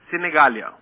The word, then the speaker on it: Sinegaglia: é cegal ou senegaglia senegalia o segundo G é mudo Ah é s i